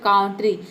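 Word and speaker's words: country: तो ये हो जाएगा कांट्री लेकिन हम इसको काउंटरी प्रोनाउंस नहीं करते हैं इसको हम प्रोनाउंस करते हैं कंट्री जिसका मतलब होता है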